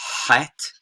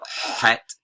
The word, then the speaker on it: Het: Then we have Het, which is, of course, a guttural, kind of pharyngeal, and you're gonna, if you can, you're gonna pronounce that in your throat, Het, or Het at the